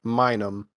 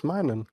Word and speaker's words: Minun: could have sworn it was Minum. Plusle and Minum. But it is Minun.